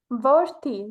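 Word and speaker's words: որդի: And the next one is son. So we can pronounce it as a wordy. Vorti, right.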